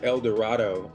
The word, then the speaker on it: El Dorado: based now I'm in a place um it's pronounced El Dorado Arkansas I came to this little town a